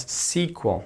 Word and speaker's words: SQL: a structured query language so it's SQL but it's pronounced as sequel sequence it's not if